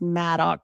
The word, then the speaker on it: Madog: Madog and this book, or it's pronounced Madog, but it's with a G.